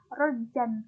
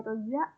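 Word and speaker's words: رَجًّا: Idza ruzzatil ardu razza. Idza ruzzatil ardu razza. Mengapa tidak dibaca rozan tetapi rozza? Karena kalimat ini mengandung hukum bacaan mad iwad.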